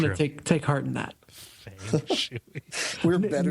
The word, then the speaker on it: Feng Shui: So yeah, that is Feng Shui is apparently the right way to say it.